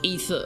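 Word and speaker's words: Aether: In fact, if it was spelled A-E-T-H-E-R, you would pronounce it ether ore, which would be even more obvious.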